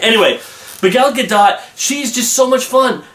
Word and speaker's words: Gal Gadot: Oh, and by the way, I found out that her pronunciation of her name is Gal Gadot, not Gal Gadot. It's how it looks.